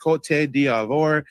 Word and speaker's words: Côte d'Ivoire: Yes, Ivory Coast is, like you said, it's pronounced Cote d'Ivoire.